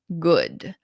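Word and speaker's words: Goode: His name is Sergeant Good. It just has an e at the end, but you pronounce it Sergeant Good.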